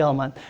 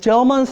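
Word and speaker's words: Gell-Mann: The reason a gel ke anybody know how to pronounce this name? No, I'll just going to say gelman.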